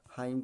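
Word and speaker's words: hymn: है, तो यानी क्या है, पूरी तरीके से साइलेंट, अर्थात क्या पढ़ा जाएगा, हाइम पढ़ा जाएगा, ठीक है, क्या पढ़ा जाएगा, हाइम पढ़ा जाएगा, यानी क्या है, साइलेंट हो जाएगा, ठीक है।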